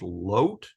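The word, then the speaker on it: לוט: It's actually pronounced Lot in Hebrew.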